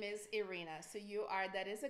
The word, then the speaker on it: Irina: So if I see you in front of me, I will say Ira, but my full name is Irina. So that is a correct name. Irina.